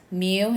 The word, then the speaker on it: mu: chapter three for finding the population mean we pronounce that mu it's the greek lowercase letter mu n is the number of values in our